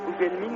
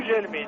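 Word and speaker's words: Gugelmin: Qu'est-ce qu'on doit dire ? Gougelmin ou Gelmin ? Gelmin paraît-il. C'est semble-t-il la prononciation nécessaire ?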